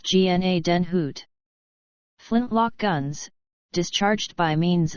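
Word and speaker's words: Gnadenhütten: magazine for february and march 1756 marg note pronounced gna den hoot flintlock guns discharged by means of a spark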